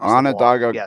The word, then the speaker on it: Onondaga: Onondaga Cutoff.